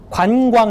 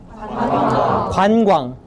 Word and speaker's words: 관광: 관광 해보세요. 관광. 중요한 것은 두 글자인데 입 모양은 네 개라는 거죠. 관광. 그래서 입술이 빠르고 기민하고 부지런해야 정확하게 발음할 수가 있고요.